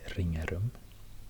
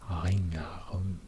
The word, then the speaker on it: Ringarum: place, village called well, I would say Ringarum, because it's spelled with an R. Ringarum, 2 R in this name. But then I've heard people saying something like Ringarum, Ringarum, Ringarum. So it's not even using the uvula, like you would say probably